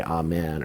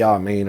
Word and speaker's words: amen: should know of course we mispronounce it in the u.s we say amen or a man which is just a mispronunciation it would be ah main or i mean in aramaic let's look at those